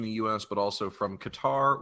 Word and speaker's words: Qatar: US but also from Qatar or Qatar if you're one of those people Jordan and Turkey and if you're one of those people some people pronounce the cutter which I don't get but no I mean